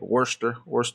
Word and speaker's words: Worcester: Northeast, like Jersey and Boston and stuff like that, and where they don't even pronounce their W's. It's like Worcester.